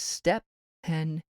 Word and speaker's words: Steven: he had insisted that his name of Steven should be pronounced as though it consisted of two syllables and from that day to this he had come to be known as step pen Bingham the other three